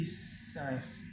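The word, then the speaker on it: Hisense: C'est de mon père, c'est une essence. Essence, ça va être comme ça. Ça s'écrit H-I-S-E-N-S-E. Essence. Voilà. Ça s'écrit comme ça.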